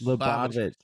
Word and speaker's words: Lubavitch: Lubavitch, yeah.